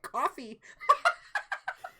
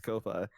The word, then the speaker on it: Ko-fi: Is that how you pronounce that? As Ko-Fi? I've been calling it coffee. Yeah, it's Ko-Fi.